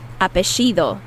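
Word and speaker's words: apellido: start with apeido and in some countries like argentina where i'm from they they produ they pronounce those double l's as sh sound apeshido so you might hear apeido or apexido means last name that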